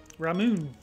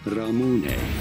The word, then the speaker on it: Ramune: Ramune. That's how you say that. There's no way that's not pronounced that way. How do you go about pronouncing it? Ramune.